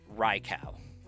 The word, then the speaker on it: Raikou: Because in a lot of languages, the U after O makes an extended U sound instead of a ow.